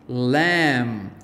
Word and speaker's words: lamb: silent b and remember we are looking for the words with m b at the end of the word so thumb lamb womb comb tomb climb